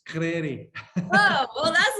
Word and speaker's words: Crary: Crary, I think is what it is. Like Americans say it. It's Scottish. It's Crary.